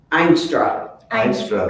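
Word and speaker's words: Eenstra: Einstra, Einstra. E-E-N, yeah, it's I've not- pronounced with an I, Yeah.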